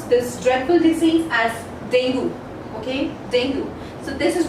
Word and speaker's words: dengue: In the British English, basically we pronounce this particular word as dengue. How do we pronounce? Dengue, dengue. And in the American English, the pronunciation goes this way, dengue, dengue, and not as dengue. So it is dengue or dengue.